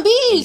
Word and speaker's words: Bills: Ah, Bills! Figata. Bills. Ah, sì. La pronuncia è Bills.